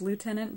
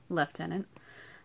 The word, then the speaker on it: lieutenant: to think it was lieutenant but I guess there's the British pronunciation is leftenant so left tenant Knox